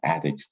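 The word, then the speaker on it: Attucks: he also designed a theater that's called the addicts theater that's in norfolk and that's spelled att ucks addicts theater and that's also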